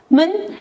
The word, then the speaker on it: 们: Men is pronounced with neutral tone, which is light and short.